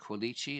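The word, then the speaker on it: Quilici: Batting seventh at the hot corner, Rich Rollins batting eighth at second base, Frank Kuichi. And yes, I'm using the Italian pronunciation.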